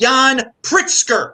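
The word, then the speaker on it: Jan Pritzker: a super chat and it's pronounced yan pritzker i butchered his name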